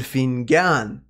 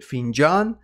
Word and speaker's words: فنجان: Qariat El Fingan. Just for your information, guys, even in Iran we have the word finjan for the cup of coffee, but in Egyptian pronunciation it's gonna be fingan.